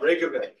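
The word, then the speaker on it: Reyk: pronounce mostly correct uh Rik um I think of like a rake that was my way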